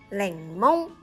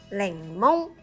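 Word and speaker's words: 檸檬: 랭몬. 이것은 레몬. 랭몬.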